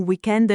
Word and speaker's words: weekend: Per esempio, a Pasqua abbiamo un weekend lungo, pensavo di andare in montagna. Attenzione, in italiano spesso usiamo parole inglesi come weekend, ma con l'accento italiano.